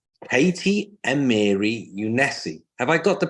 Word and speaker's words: Katy Amiri Younesi: So we're today joined by the inspirational and wonderful lady called Katy Amiri Younesi. Have I got the pronunciation right, first and foremost?